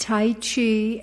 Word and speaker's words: Tai Chi: Hi, it's pronounced Tai Chi and Qigong, and this is a world event.